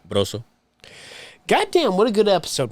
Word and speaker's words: Brozo: You got to roll the R. Brozo.